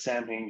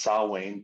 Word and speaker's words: Samhain: But if you pronounce it as Samhain, you're wrong. It's pronounced Samhain because Celtic language is weird and the M is actually a W.